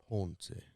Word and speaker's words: Ponce: You have to say it like Ponce.